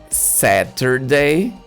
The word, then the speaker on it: Saturday: Here you can say Saturday or Saturday. Letter T in American English has this sound.